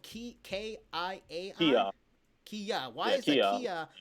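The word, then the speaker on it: kiai: Now, why is the Kia, it's spelled K-I-A-I?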